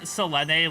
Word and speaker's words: Selene: I'm pronouncing Selene like the Hades goddess now, like how they pronounce it in the game.